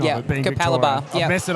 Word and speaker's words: Capalaba: pronunciation Yeah, of it being Capalaba.